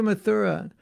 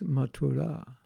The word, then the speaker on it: Mathura: goes by the same name that's how it's pronounced not mathura so i'm going to mathura hey prabhu there's no place called mathura mathura it's matura and if i tell you i'm going to